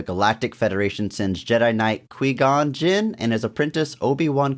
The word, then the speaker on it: Qui-Gon: When the Galactic Trade Federation sets up a blockade around the planet of Naboo, the Galactic Federation sends Jedi Knight Qui-Gon Jinn and his apprentice Obi-Wan Kenobi to meet and reason with the Federation trade leader.